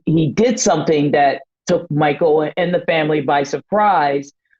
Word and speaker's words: Michael: may free this is Michael who which is spelled m i h e a l not AEL Mitten he has a